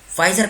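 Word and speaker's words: Pfizer: बात चल रही है फाइजर कहा कि है देखो पिज़्ज़ा पिज़्ज़ा इसमें साइलेंट है पीछे वेयर इज इट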